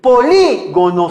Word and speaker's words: polígono: Polígono cerrado. Oye, polígono lleva tilde. Es una palabra esdrújula o proparoxítona y se tilda sin excepción.